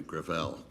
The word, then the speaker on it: Gravel: next Witness uh Senator gravel with all due respect let me correct I pronounce it within my family gravel gravel it's a French name thank you I want